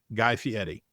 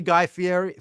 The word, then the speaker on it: Fieri: Early Guy Fieri. You have to pronounce the R like it's a D.